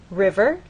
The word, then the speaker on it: river: River, you'll either hear people speak or you'll look in a dictionary and understand that the first syllable is stressed, river.